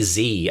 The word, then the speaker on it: Z: ] because I say Z as a letter of the alphabet because Z rhymes with v and that's the rhyme scheme of the alphabet Z makes more sense but I know it's Zed I know just before